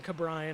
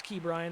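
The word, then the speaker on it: Ke'Bryan: I know I kept saying his name wrong. I didn't mean to in the earlier episodes like I was saying Kabrian. I know that's it's Key Brian and I don't mean it to be like a backhand.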